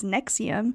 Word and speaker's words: NXIVM: as such so let's get into today's story Nexium and if you look on the screen or if you look it up it is not spelled the way that you think it is nxi VM pronounced as Nexium was created in 1998 by Keith reri and